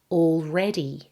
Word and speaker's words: already: Let's start with the word stress in the word already. Can you hear that the emphasis is on the middle syllable?